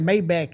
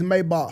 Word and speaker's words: Maybach: Cuz y'all be running the bitch saying Maybach and shit. Get the fuck out of here. It's Maybach.